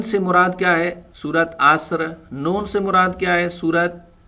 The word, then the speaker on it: عصر: یہ سورت اثر پڑھتے ہیں اور سورت نصر پڑھتے ہیں. یہ عربک ہے، اس میں تھوڑا مسٹیک کرتے ہیں. یہ اصل میں تلفظ ہے سورت عصر، سورت نصر اور سورت کوثر.